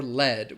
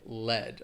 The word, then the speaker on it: lead: a dark tunnel where people were mining for lead, which is a noun, and that is just the material that people would excavate from a mine, lead, all right?